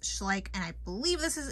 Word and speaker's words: Schleich: like a fool in this video y'all it's pronounced schlik I had to Google that but it's pronounced schlik and I believe this is a German toy